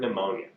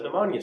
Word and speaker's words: pneumonia: again this confused me what about the word pneumonia what letter does pneumonia start with n are not an r pepe p you can't throw letters around all really really so